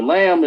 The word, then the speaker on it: lamb: or the lamb the lamb is the lame the lamb is the lamb The B is silent.